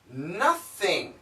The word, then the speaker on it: nothing: hmm and more words another word nothing is also possible and the sound is the glottal stop sound would be nah nothin nothin and what's really interesting